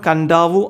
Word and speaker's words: Kadavu: അപ്പോൾ ഇവിടെ കടവ് എന്നാണ് എഴുതിയിട്ടുള്ളത് അല്ലേ, കണ്ടറിയാം കടവു. പക്ഷെ ഇതിൻ്റെ ഉച്ചാരണം കണ്ടാവു ആണ്. അത് നമ്മുടെ ടെക്സ്റ്റ് ബുക്കിൽ തന്നെ വളരെ ക്ലിയർ ആയിട്ട് കൊടുത്തിട്ടുണ്ട് കേട്ടോ. അപ്പോൾ കടവെന്ന് എഴുതും, കണ്ടാവു എന്ന് വായിക്കും. അപ്പോൾ എക്സാമിന് കണ്ടാവു എന്ന് എഴുതേണ്ട